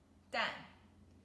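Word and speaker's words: 蛋: means stir fry and the last character is den then fourth tone dan which means eggs so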